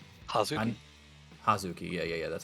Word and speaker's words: Hazuki: Hazuki.